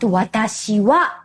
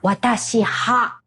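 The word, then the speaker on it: 私は: That is why watashi wa must be pronounced watashi wa, not watashi ha.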